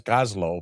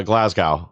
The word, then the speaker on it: Glasgow: He was going to be on this week, but he's in Gaz Gazlo because of Gazlo Gazlo, how do you say it? Uh Glasgow.